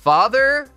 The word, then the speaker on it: father: Para a segunda parte, vamos relembrar a pronúncia do th que aprendemos anteriormente, pois é o mesmo som. Vamos colocar a pontinha da língua entre os dentes e deixar o ar sair. Esse som também vai parecer o zumbido do que as abelhas fazem. Então, ao mesmo tempo em que produzimos o som do th, vamos dizer father, que tal alguns exemplos?